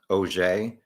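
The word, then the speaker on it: Auger: I believe her last name is pronounced OJ.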